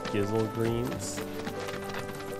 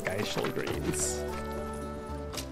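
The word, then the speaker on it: Gysahl Greens: Remember, for the longest time, I didn't know how to pronounce Gizzle Greens. I pronounced them Geishel Greens.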